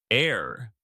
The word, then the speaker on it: heir: The H is silent. You say air.